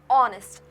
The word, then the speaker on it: honest: apple, an elephant, an honest boy. So now you have to note that in honest the letter H is silent. H is silent. We are not pronouncing the H. We pronounce it as honest like it is written